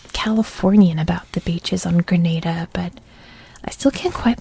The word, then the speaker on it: Grenada: grenada you know i always thought it was granada like for my whole life um you know